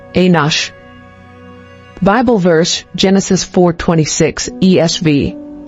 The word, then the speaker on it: Enosh: inos origin Hebrew ANH meaning mortal or human pronunciation anos Bible verse Genesis 4:26 ESV to Seth also